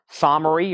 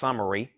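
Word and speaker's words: Somery: top cover there $33.99 descendant somary or is I think it's actually supposed to be pronounced sumary this is uh$ 39.99 for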